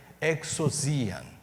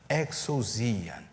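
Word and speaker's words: ἐξουσίαν: A palavra autoridade utilizada no texto é a palavra que, se nós fôssemos pronunciá-la, a melhor forma seria exousian, exousian. E ela parece muito uma outra palavra que a gente usa no português.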